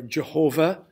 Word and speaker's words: Jehovah: the God of Israel we pronounce it Yahweh or or Jehovah but in reality I